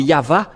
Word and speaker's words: Yahvah: dans ce cas mais ça n'existe pas le vave égal à W é=al ou c'est toujours le V la vraie épellation c'est pourquoi c'est yava et ceux qui prononcent